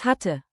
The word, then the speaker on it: hatte: Keep the double T crisp. Hatte, hat test, hat 10.